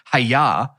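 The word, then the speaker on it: hyah: here's your line and they spell it h-y-a-h and i would imagine they're like hey you don't exactly have to say hiya you can just like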